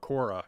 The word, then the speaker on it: Quora: i'd also go to another platform it's called cora and i hope i'm pronouncing it right it's q u o r